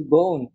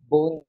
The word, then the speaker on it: Beaune: And if I want to go for a wine trip, then I would go to Beaune. Beaune, it's a beautiful small city. It's the... How do you spell that word?